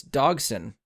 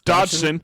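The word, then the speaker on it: Dodgson: Campbell Scott as Lewis dogson does that last name sound familiar to anybody I mean you said it wrong because it's Dodson Dodson we've got Dodson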